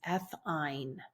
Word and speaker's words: ethyne: a triple bond means it's ethyne is how we would pronounce that, and we would write that with a YNE.